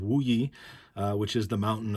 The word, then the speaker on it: Wuyi: mu he mountain so mookie is kind of like a cantonese pronunciation of wu yi uh which is the